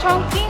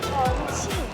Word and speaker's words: Chongqing: Lia, is it Chong Ching or Chong Cching? Chongching. Chongching. Ah, Chong Ching. Ang tamang pronunciation.